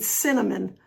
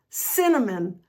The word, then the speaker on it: cinnamon: Or let's do that word cinnamon. Cinnamon. Cinnamon, right? Not synonym. Cinnamon.